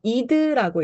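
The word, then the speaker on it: id: 원초화는 아이디라고 써 있죠. 이드라고 읽습니다.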